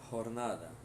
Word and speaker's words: jornada: A jornada de trabalho tem a mesma escrita, só muda a pronúncia. Jornada, né? J com som de R. Jornada.